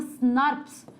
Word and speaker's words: snRNP: We pronounce it as SNRPs. हम लोग इसको बुलाते SNRPs है, दिखता SNRNP है, बुलाते इसको SNRP है।